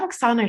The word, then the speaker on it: Oksana: So we have Oksana here, if I'm pronouncing the name properly.